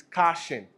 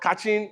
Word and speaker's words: caching: So there are a lot of pronunciations flying around, but the actual pronunciation is caching. Oh, it's not catching, it's not caching.